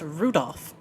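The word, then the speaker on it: 留弗夫: That mess of characters is pronounced Rudolph.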